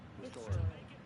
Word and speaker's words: historic: I always say ahistoric because the H is not silent unless you're some core blimey. What H? What H is there, an A or J? Historic. Oh, historic. Got it. The H is silent. For them over there across the pond, an historic day, ain't it? Yeah, it is. That's why they say ahistoric, but it's ahistoric because the H isn't silent.